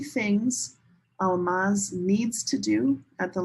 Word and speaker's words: Almaz: And you're Almaz?